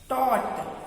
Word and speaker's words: taught: टॉट, एकदम अलग spelling.